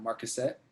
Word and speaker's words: Marquisate: smaller time folk versus the Irie and the Marquisate. Is that how you say that? Marquisate? That is reasonably, yes, pronounced.